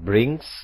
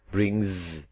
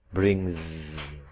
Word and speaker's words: brings: Sedangkan di atasnya, bring pakai S, tetapi karena diakhiri dengan voice sound, dibaca tidak brings, tapi brings, brings. Oke. Kesimpulannya, semua kata yang diakhiri dengan bunyi voiced, seperti bring, apabila mendapatkan huruf S, maka dibacanya Z, brings.